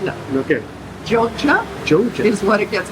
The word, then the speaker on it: Jogja: It's spelled Yogyakarta, and I think it's the second biggest city after Jakarta in Indonesia, but the locals call it Jogja. So Right. it's J's instead of Y's, even though it's spelled with Y's. Jogja.